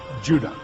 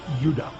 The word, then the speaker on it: Judah: were called Benjamin and Judah more properly pronounced UDA because we didn't get the harder sound to the J until about 200 years ago so this is what